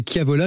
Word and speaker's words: Chiavola: C'est comme vous savez c'est Kiavola, c'est comme à Kili, hein. Il y a un CH, c'est à l'italienne ou à la Corse.